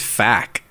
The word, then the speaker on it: FAQ: like such a thrill how do you pronounce FAQ I just say FAQ but in your head when you read it I say FAQ really yeah I say it as fact is that like is